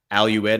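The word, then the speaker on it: Al Udeid: The major military base, Al-Ued, I think is how you say it.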